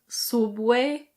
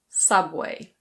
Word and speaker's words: Subway: Yes this is pronounced Subway. It's not "soob-way". It's Subway. Subway.